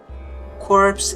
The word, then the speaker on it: corpse: Corpse is a tricky word in English because it's bored from French. We pronounce it the same as core.